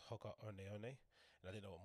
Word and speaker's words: Hoka One One: I think they're called, pronounced Hoka One One, and I didn't know what model to go